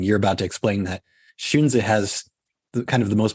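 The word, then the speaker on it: Xunzi: isn't considered so Orthodox his name is shunza and for people who don't read Chinese you probably don't even know how that's spelled it's spelled XU nzi Master shun is his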